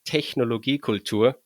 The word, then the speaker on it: Technologie Kultur: And so my handle is properly pronounced as Technologie Kultur, which is a German word, and it's pretty transparent to English speakers, I guess, because it's technology and it's culture.